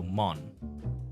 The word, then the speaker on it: Mont: the white mountain yes but in French Mt the t is omitted so so Mon and then Blanc BL a n c